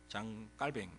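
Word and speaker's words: Jean Calvin: 칼빈이 라고 많이 알려졌는데 원래 프랑스 발음은 짱 꼬맹 장 깔 뱅 뭐 이렇게 말을 합니다 굉장히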